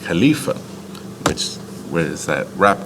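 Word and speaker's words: خليفة: calebs all right uh which in Arabic is pronounced Khalifa which where is that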